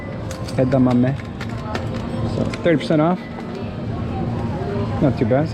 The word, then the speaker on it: edamame: is pretty close here we got some edamame it's for those who want to know how to pronounce it edamame edamame 30% off that's your best like a buck